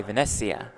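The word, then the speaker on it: Venezia: pgt heads to italy late may may 26 to the 30th partnership with luxon pay for pgt italy from casino de vanessia is that good pronunciation italian pronunciation so yeah you nailed it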